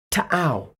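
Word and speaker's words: T'au: However, due to copyright reasons, I shall now pronounce the name correctly once and once only. Are you ready? Tau.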